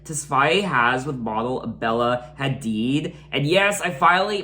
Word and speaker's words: Hadid: and off relationship Tesfaye has with model Bella Hadid. And yes, I finally pronounced her last name correctly.